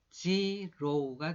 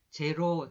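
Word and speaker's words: zero: 이 단어는 G는 지읒, 그 다음에 E는 E라고 읽어줘요. E라고 읽고 R은 리을 하면서 오나 우를 넣어주라 그랬는데 여기서 오를 넣습니다. 근데 그 뒤에 오는 발음이 또 오가 있죠. 그래서 지로우가 됩니다. 지로우. 여러분들이 제로 하시는 것이 바로 이거예요.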